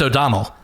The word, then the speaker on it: O'Donnell: It's O'Donnell. So think of the E more like like a U would be the right way to, the more right way to say it.